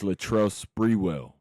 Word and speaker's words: Latrell Sprewell: years since Latrell, and it's Latrell Sprewell. I got y'all cuz y'all want to always correct me and you feel me? I know y'all saying it wrong at the crib.